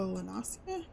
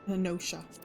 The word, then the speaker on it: Lenosha: Okay, we're going to Lenosia. No. Well, Lenosha I always want to say Lenosia. It's Lenosha. I'm pretty sure it's pronounced Lenosha.